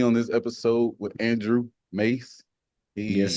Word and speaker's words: Maas: Is it Mass or It looks like it should be, but it's actually pronounced Mace. You know, Mace, like the stuff cops spray on bad guys.